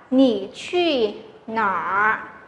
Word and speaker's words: 你去哪儿: hãy đọc một cách chuẩn ra, đó là nǐ qù nǎ, nǐ qù nǎ có nghĩa là bạn đi đâu đấy, bạn đi đâu đấy, được chưa?